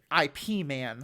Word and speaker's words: Ip Man: is IPM yeah um it just happens to be pronounced like our word man well it's not it's